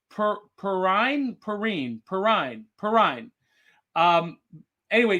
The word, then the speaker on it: Perrine: i've been mispronouncing her name i'm going to pronounce it right perrine perrine perrine perrine um anyway she was miss